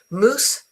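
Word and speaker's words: mousse: Okay, so these two are pronounced exactly the same.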